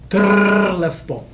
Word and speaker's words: Trlefbo: Trlefbo. Yeah, so the double R is a very strong trill and you can have fun with it.